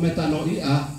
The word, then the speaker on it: Metanoia: Saya bergairah untuk berbagi dengan saudara-saudara karena saya lihat gereja ini gereja metanoia, begitu bacanya dalam ejaan asli. Metanoia.